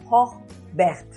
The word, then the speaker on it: Hoogwegt: Bienvenida a Mundo Rural en Positivo, Hochberg.